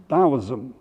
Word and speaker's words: Taoism: Now I want to move over to China, to a religion called Taoism, spelled Taoism, but pronounced as if it was halfway between a D and a T, Taoism.